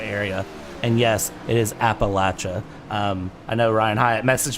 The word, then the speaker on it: Appalachia: And yes, it is Appalachia. I know Ryan Hyatt messaged me earlier today and said, "How do you pronounce that, Brad?"